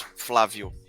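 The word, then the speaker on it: Flávio: My name is pronounced. You can pronounce Flavio. Flavio.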